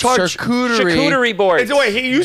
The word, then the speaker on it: charcuterie: If you want to eat charcuterie boards, go ahead.